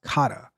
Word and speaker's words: Kata: let me see let let's see how it's pronounced k k it's pronounce Kata and what is Kata